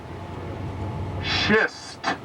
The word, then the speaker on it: schist: dense kind of granite whose name must be pronounced very carefully. It is called Manhattan, and here's the careful part, Manhattan schist.